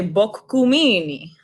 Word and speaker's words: Boccumini: for the first time it's actually book GU Mimi well cool mean cuz